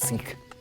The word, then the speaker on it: Sikh: Now, how come you say Sikh and not Sikh? Well, the actual pronunciation is Sikh.